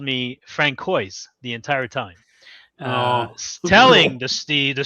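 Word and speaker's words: François: That little funny little squiggle thing under the C there, that is a sign that it is a soft C. And not, as I got called when I lived in Boston all the time, Francois. It is Francois, because it is a soft C and a silent S.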